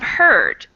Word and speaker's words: heard: sure so beware of heard a dreadful word that looks like beard and sounds like bird and dead it's said